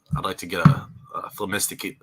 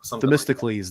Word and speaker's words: Themistocles: I'd like to get a Themistocles. I don't even know if I can pronounce his name. Themistocles, or the main second I'm one. probably not even pronouncing it right. Themistocles. Themistocles. That's it.